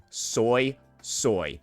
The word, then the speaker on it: Suisui: It's going to be Soy Soy. Yes, ladies and gentlemen, Soy Soy is here. And that is how Jiny pronounces her name in the story.